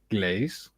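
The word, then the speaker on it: Gleize: You can see any time at Le Glaise pronounced glaze.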